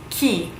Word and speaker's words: chi: Who in Italian is chi. Chi. It looks like chai almost, but it is pronounced chi.